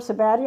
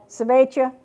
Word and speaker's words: Sabbatia: Now, Sabbatia grandiflora, the large flowered Sabbatia. Am I pronouncing that right? Martha? Where's Martha? Sabbatia or Sabbatia? Either way? Okay, because I was saying Sabbatia and I thought it was wrong.